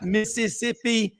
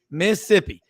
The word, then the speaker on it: Mississippi: on super talk Mississippi notice that is two syllables Dave it's not Mississippi it's Mississippi this is a man